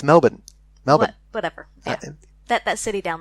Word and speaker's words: Melbourne: Melbourne, not Melbourne, as it's spelled.